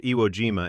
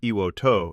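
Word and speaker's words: 硫黄島: The island itself, called Iwo Jima in English, Iwo To in the official Japanese pronunciation of the same characters, renamed in 2007 when Japan revised the reading, is not open to public visitors.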